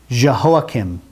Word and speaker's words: Jehoiakim: Jehoiakim.